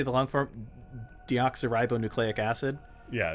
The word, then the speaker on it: deoxyribonucleic: metroid how how do you say the long-form deoxyribonucleic acid yeah deoxyribonuclear acid from metroid deoxyribonucleic acid which also left